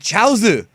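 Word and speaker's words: Chiaotzu: So it's like Gyaozu and then Chiaozu, but they pronounce it Chaozu.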